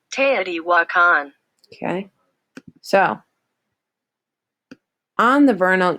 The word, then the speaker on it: Teotihuacan: has no idea and this is how it's pronounced Teotihuacan okay so on the vernal equinox people from